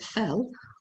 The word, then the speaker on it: Phil: All right, so for this example, we see PH, so we pronounce it fell, will sketch, TCH, a graph, again PH, for math.